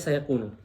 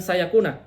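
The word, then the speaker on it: سَيَكُونُ: sayakunu minkum mard alimaakunu bacanya sayakunu bukan sayakuna padahal ada an di sini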